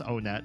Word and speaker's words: Onett: One tut. Just kidding. It is pronounced on net.